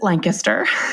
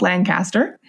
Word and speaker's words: Lancaster: They pronounce it Lancaster, even though it's spelled Lancaster.